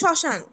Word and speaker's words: শ্মশান: আবার পদের প্রথম ব্যঞ্জন বর্ণে মফলা সংযুক্ত হলে সাধারণত সেটির কোনো উচ্চারণ হয় না, মানে এখানে শ্মশান।